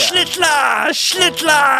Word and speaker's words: Schlittler: Schlittler, you're the one that we... Rhymes with Hitler.